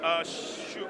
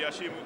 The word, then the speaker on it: Hashimu: This will be taken by Ibrahim Hashimu. I'll tell you, I just shortened this to Hashim, because that's what it is. But the pronunciation would be Hashimu.